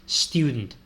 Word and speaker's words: student: no es student no no es student es student Con la s líquida y al principio no no se pronuncia con una e al principio es directamente con la student I'm so I don't